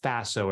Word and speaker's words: FASO: the uh core model I call Faso it rhymes with the lasso it's an acronym A